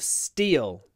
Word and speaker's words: steel: require a lot of Steel they didn't steal the steel interesting these two words are pronounced exactly the same steel steel style they